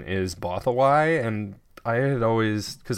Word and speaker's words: Bothawui: is on Bothawai also, and it's that the pronunciation is Bothawai, and I had always, because I knew how it was spelled, it's Bothawui, so I always thought it was like Bothawoo.